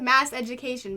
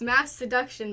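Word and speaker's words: Masseduction: into is it i i always think mass education but it's mass seduction by saint vincent yeah mass education is sort of how it's spelled new york isn't new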